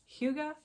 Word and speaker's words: Hygge: Oh, pronounced Hygge.